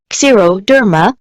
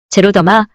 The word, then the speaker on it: xeroderma: 용어가 X로 시작하는 경우 Z로 발음합니다. 제로, 드라이, 건조함의 뜻, 그 예로는 xeroderma, xeroderma, 피부 건조증, 피부의 더마와 건조한 제로가 결합돼 피부 건조증, 건비증이 됩니다. 제로더마, 피부 건조증, xeroma, xeroma,